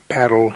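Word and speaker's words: Paarl: playing ruis FY parel for our listeners abroad parle is the Africans pronunciation of the Charming Town pal not far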